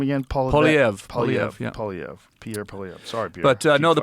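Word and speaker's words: Pierre Poilievre: Pierre Polyev.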